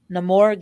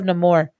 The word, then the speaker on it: Namor: But yeah, I mean, speaking of Namor, again, how they say it in the movie, Namor instead of Namor, I loved it.